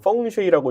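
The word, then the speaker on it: 風水: 제가 이제 풍수를 미국에서 배울 때는 보통 뭐냐면 펑쉐이라고 이제 중국어 발음대로 이제 얘기하는데 과학으로 배우지는 않습니다.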